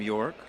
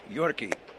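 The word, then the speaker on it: Yorke: He's got an E at the end of the name York. Going to confirm with Zach that it's not pronounced Yorkie.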